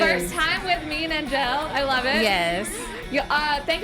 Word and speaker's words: Angele: I said it wrong, Angele. You better. I got to get that French accent, yeah. you know. You can also call me Angel, but there's an E at the end.